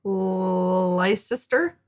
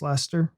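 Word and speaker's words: Leicester: That one too, Lester, but it looks like Lister. It's just Lester, like Chester.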